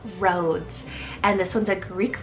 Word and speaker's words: Rhodes: the boys is Rhodes it's spelled r h o d e s roads and this one's a